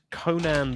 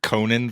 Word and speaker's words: Conan: I'm sure that my Midwestern accent is just taking the A out of there.